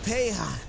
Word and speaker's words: Peja: and he's currently playing in coal for KB Paya is that's how you say it right KB